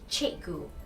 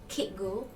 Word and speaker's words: Cikgu: In Malay, the letter C is pronounced as ch, not k or s. In this instance, Cikgu is pronounced as Cikgu, not Kitgu or Sitgu.